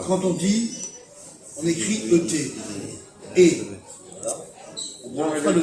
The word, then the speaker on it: et: quand on dit, on écrit ET. Et. Non, mais pas le le T, T. ça se prononce pas mal. Voilà, on ne prononce pas le T.